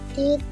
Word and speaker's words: the: Karena old itu diawali oleh vokal, bahasa Inggrisnya vowel, Oh ya bener vokal. ya. Kalau dibacanya vokal atau vowel bahasa Inggrisnya, the itu dibacanya di, ya.